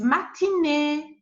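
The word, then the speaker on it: matinée: normal wobble like this you have this one matan but if i add the axon it is matinee matinee as you see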